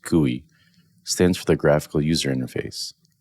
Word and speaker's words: GUI: for user interface and GUI pronounced kui stands for the graphical